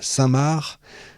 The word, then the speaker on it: Saint-Marc: Saint-Mar, ça y est, ça s'écrit Saint-Marc, hein, est l'un des centres musicaux les plus prestigieux d'Europe.